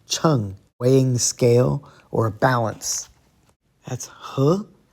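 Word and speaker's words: 秤: Here's fourth tone, cheng, weighing scale or balance.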